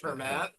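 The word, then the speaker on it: Germán: the twins Herman Gonzalez spell g e r m an pronounced her mat I don't remember so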